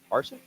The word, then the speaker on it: Harsin: And how do we pronounce the new Auburn coach's name? Harsin.